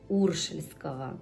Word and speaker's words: уршельского: все случится во за уршельского мне сказали что правильно именно на первый слог ударение ставить я сегодня приобрела и